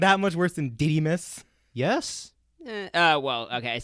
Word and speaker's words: Didymus: It is called Didymus.